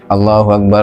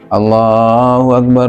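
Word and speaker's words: الله أكبر: Yang pertama dari segi pelafalan yaitu memendekkan lam jalalah pada takbir yang pertama dengan mengatakan Allahu Akbar Allahu Akbar Allahu Akbar Allahu Akbar ini Allahnya yang pertama akan pendek. Yang benar adalah dipanjangkan. Allahu Akbar.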